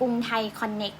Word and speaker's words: Krungthai Connext: N E X T อ่าน ว่า กรุงไทย คอนเนค นะ คะ แล้ว ก็ กด